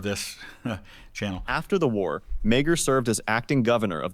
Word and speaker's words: Meagher: Thomas Francis Meagher, on July 1st, So it's Meagher is how that's pronounced.